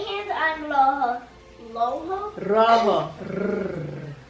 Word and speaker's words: rojo: Rojo? Rojo. Say My kids don't have a Spanish accent. Can you roll your R?